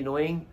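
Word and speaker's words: know: saying के एन ओ डब्ल्यू ए आई जी नोइंग के एन ओ डब्ल्यू एन नोन एंड के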